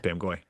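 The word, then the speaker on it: Bamgboye: Ignore the second B and the final E. Just Bamagoye.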